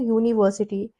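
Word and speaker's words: university: बट यू है हम बोलते हैं यूनिवर्सिटी। Okay? It starts with you. यू Y sound से स्टार्ट हो रहा है। है ना? बोलने में यू आ रहा है।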